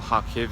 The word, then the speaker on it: Kharkiv: Highly recommend Kharkiv, or Kharkiv as some will say, and Kharkiv as others will say. Don't pronounce the K, it's with an H.